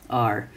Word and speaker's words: our: our at our masters that's how we pronounce our if it's not an important word in the sentence are at our masters house